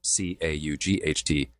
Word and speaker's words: caught: merger because I say cot, C-O-T, and caught, C-A-U-G-H-T, differently.